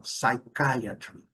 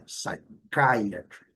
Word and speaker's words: psychiatry: Porque psiquiatria, a gente vai falar psychiatry, mas não é psychiatry, caia, ok? Psychiatry. Legal aqui, bastante cuidado. E lembrando, eu mostrei também a letra Y ao final, muito bem pronunciada, apesar da segunda sílaba ser a forte, até essa última sílaba que a gente pronuncia também com clareza.